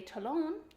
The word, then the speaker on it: Talon: So in English, we pronounce it Talon, like the word salon.